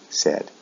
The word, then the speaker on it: said: The pronunciation is a short E sound, eh, said, in both the past and the past participle.